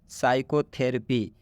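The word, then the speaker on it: psychotherapy: Next, साइकोथेरेपी, इसमें भी आप देख सकते हैं पी के बाद एस आया है, मतलब ये इस पी का उच्चारण हम नहीं कर रहे, यहाँ से बोल रहे हैं साइकोथेरेपी।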